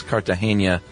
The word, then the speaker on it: Cartagena: My last name is Cartagena, like the city in Romancing the Stone.